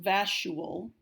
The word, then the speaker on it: vacuole: Again, this is not pronounced vacuole. Underline the C and write a K up above it. So it is vacuole.